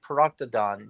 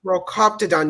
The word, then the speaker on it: Procoptodon: Proctodon. Yeah, No, Procoptodon.